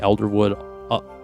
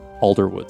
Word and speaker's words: Alderwood: in the name the Elderwood Athenium. Elderwood Athenium. Alderwood. Sorry, I'm pronouncing that wrong. The Alderwood Athenium.